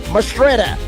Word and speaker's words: Mastrita: That is Trace Mastrita. That is how you pronounce his name, just so everybody knows.